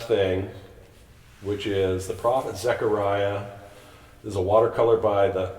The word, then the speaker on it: Zechariah: the old testament so zechariah zach i'm going to pronounce it zechariah get that e in there has this prophecy that